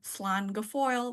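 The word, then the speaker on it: slán go fóill: the past that is all from me um slan G Foil that's how you say it in Irish it's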